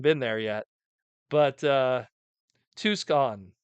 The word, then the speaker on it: Tucson: there yet but uh two's gone Tucson okay Tucson Arizona that that's probably the best way to say it Tucson now I know